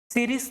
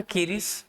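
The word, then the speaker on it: Ceres: सीरीज नाम है इसका, सीरीज, और इसका दूसरा भी प्रोनाउंसिएशन हो सकता है कीरिस, सीरीज ही बोलेंगे इसको।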